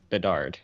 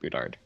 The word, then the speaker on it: Bedard: correct you Landy um it's Bedard not boudard you gotta get that pronunciation right man if we're going